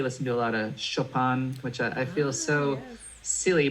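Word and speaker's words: Chopin: i i really listen to a lot of chopan which i feel so silly pronouncing it that way but that's how that's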